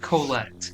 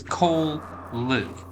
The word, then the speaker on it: Cole Luke: It's not Colette, it is Cole Luke. Say it. Is it? Then Cole it is. Such matters of pronunciation. No. First name Cole, second name Luke.